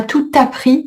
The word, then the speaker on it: tout appris: Donc la femme ici c'est le COD et donc c'est le pronom que celle qui m'a tout appris. Attention la liaison obligatoire. Celle qui m'a tout appris.